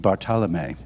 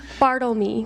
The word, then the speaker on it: Bartelme: And we're about to be joined by the great Bartelme. Bartelme.